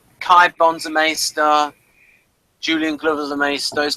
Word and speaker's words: maester: got the Masters here he wants to be a maer ma right he's which it's a bit of a dip thong I think it's m AE it's a MAA which is just for like a um maybe it should be pronounced mea for no ma ma is right yeah yeah that's for